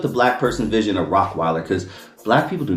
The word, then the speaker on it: Rottweiler: Hey homie, is your is your Rockweiler American or German? Hey homie, is that a is your Rockweiler? I'm like dog in my head. I'm like, it's Rottweiler.